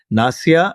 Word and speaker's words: Nassia: is equally exotic you know so there is nasia and skuli karati is that a correct way I'm pronouncing your names that's very good that's very